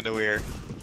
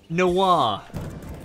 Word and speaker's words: noir: How's it say? Noir. It's French. There's an... That's an I! Yes, noir. Like a film noir.